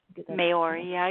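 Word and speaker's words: Māori: Maori, yeah, you're saying it right.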